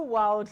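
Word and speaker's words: Wyld: the B what bu Wild Media bu Wild Media okay but the pronunciation of the world is w y l d yes B wild B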